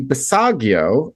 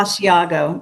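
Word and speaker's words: Basiago: Um I interviewed a guy called Andy Bisagio and he had the same problem where he went down to ABC and downloaded his Andy Bosiago. But yes, I said his name wrong.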